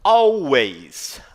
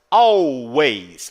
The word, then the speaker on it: always: Always, always. O W tem um som é como se fosse um U, tá? E o A no inglês, ele é como se fosse um E, tá legal?